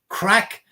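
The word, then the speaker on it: craic: gossip or what's the crack what's happening did you have was it was a lot of crack was a lots of fun so it's spelled c r a i c um just to to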